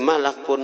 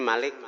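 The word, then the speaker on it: ملك: Qalal malaku bacanya. Di sini tulisnya Malik.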